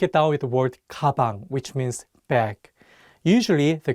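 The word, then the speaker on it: 가방: down with the word kabang which means bag usually the consonant Gio sounds like an English G however if it's at the beginning of the word it takes on the English k sound kabang let's do another example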